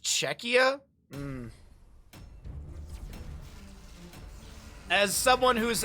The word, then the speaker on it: Czechia: catastar named it um chesia chesia properly what's up Vita good morning we're making sure we pronounce things czechia oh it's just czechia oh that sounds so wrong that sounds so wrong czechia it's just checkia um as someone who's